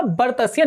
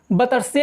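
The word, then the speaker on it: वर्त्स्य: तो वो कितना, क्या उच्चारण जो उसका सही होगा वो क्या होगा, बर्तस्य, ना कि बतस्य, या जो भी आप करते होंगे वो मुझे नहीं पता, लेकिन इसका सही उच्चारण जो होगा वो बर्तस्य होगा।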